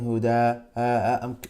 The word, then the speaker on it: هدى: I'm saying huda. I'm pronouncing alif there. That sound is alif. Huda. That's alif.